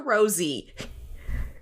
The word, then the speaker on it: Rosé: to be nitpicky but that accent above her the E is it would pre pronounce Rosé in French so like I don't